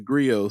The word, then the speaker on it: Grio: And that's why Griot TV just launched and so on and so forth.